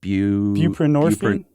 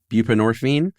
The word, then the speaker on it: buprenorphine: Buprenorphine. Buprenorphine.